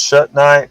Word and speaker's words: shungite: what's up um shut night shut night it's pronounced shut night but it's uh but it's spelled with an